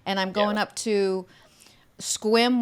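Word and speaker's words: Sequim: i'm going up to squim washington which is spelled s-e-q-u-i-m squim and it's between port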